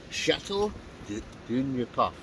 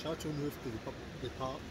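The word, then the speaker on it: Châteauneuf-du-Pape: Johnny Explore Scotland, if you're watching, look what G's got, your favourite Chateau du New Puff. Is that how you pronounce it? Chateau Neuf de Pape.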